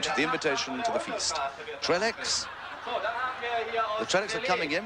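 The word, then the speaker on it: Trélex: Trellex, the Trellex are coming in with a stick of dynamite. We're calling him Trellex, but of course you French buffs will know that the correct pronunciation is Trelle.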